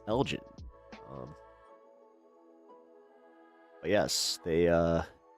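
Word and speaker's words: Elgin: She went to uh it's called Elgen. People pronounce it Elgen. It is Elgen.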